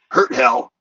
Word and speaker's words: Hurt Hell: I play the Dwarven Swordmaster Ginny Hurt Hell, and it's pronounced like hurts like hell.